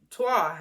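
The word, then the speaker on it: Trois: she was like we did that movie uh TWA that's how you pronounce it it's spelled t-r-o-i-s I only did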